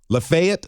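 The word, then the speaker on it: Lafayette: So from Smyrna to McMinnville, Lefayet, I said it right, to Promised Land to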